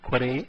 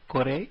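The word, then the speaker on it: これ: Please note the last letter E is actually pronounced as A, and so these should be pronounced as kore, sore and are and not as kor, sor and are.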